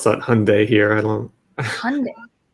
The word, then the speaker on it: Hyundai: yeah we pronounce that hyundai here i don't know i don't think we pronounced the y wow okay hyundai like it's like a sunday like like from mcdonald's